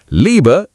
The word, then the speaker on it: Liebe: IE is equal to EE sound. Liebe is equal to Liebe, love. Easy, just stretch it.